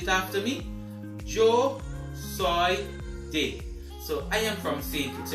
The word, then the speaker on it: de: to say i am from is joe soy dey not d but the e in spanish is pronounced as d in english okay so to say i am from is joe soy dey repeat it after me joe soy day so